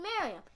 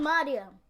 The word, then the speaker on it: Miriam: My name is Miriam. She just said Miriam, and then for the rest of the day, she said Mariam.